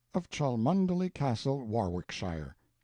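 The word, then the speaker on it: Warwickshire: Banks, Sellers, Vic Count Berkeley of Chalmundi Castle, Warwickshshire. Pronounced Cubri Flanover Marshbank Sellers Viccount Barkley of Chumley Castle, Warshire.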